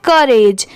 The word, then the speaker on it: courage: जैसे यहाँ पर CO अगर हम डिवाइड कर दें तो इसे को नहीं पढ़ेंगे, यहाँ पर इसकी साउंड क्या आ रही है, क की।